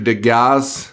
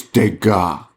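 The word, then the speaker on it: Degas: like yes sir Mr deas no deas deas yeah deas and he's like it's dega the S is silent I don't know why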